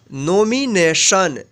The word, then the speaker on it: nomination: तो यहाँ पे देखिए टी है, टी के जस्ट बाद क्या आया है, ION आया है। तो इसलिए इस टी का उच्चारण जो हुआ है यहाँ पे तालव्य श उच्चारण हुआ है।